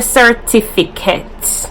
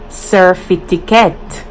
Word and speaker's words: certificate: So it's actually tiffy, but we say fitty. We switch up the words. We switch up the T-I-F-I. So the proper pronunciation is the one T-I-F-I. But we mix it up and we say F-I-T-I.